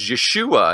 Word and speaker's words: Yeshua: And we talked about on the last show, his real name, as far as we can get, as close as we can get to it in pronunciation, is Yeshua.